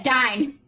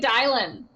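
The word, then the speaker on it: Daein: Yeah, Dine. Dine. I kept calling it Dylan. I kept calling it Dylan, and I was just like, screw it. It's spelled D-A-I-E-N or something. There's no L.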